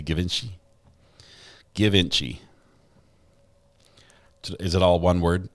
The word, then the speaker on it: Givenchy: Givenchy. Is it all one word? It's like one syllable. Givenchy. That's still two syllables. Givenchy. Is it Givenchy instead of Give Inchy?